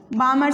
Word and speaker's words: Balmer: ठीक है, नंबर 2 है बामर सीरीज़। बामर सीरीज़ में ये जो L है BALMER, ये क्या है? BALMER, L साइलेंट होता है बामर सीरीज़।